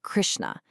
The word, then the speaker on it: Krishna: You'd say it like Krishna.